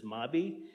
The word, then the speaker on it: MAB: We pronounce it as MABI.